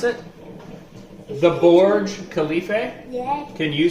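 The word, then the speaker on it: Burj Khalifa: what is the tallest building in Dubai the Borge Khalifa did you hear that did you hear that how you pronounce it the Borge Khalifa yes can you say it yeah not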